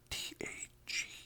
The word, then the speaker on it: Tage: guy named tag uh t a g e spell Tage pronounced tag and uh anyways so